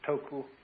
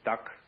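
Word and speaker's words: 德: The Japanese pronounce it toku, the Cantonese duck, and the northern Mandarins approximately de.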